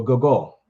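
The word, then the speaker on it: guggul: everybody got that next one is called the google google g-u-g-g-u-l g-u-g g-u-l the goal y'all got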